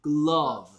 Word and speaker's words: glove: E인데 여기서 소리 안 나서 다 합쳐서 글러브.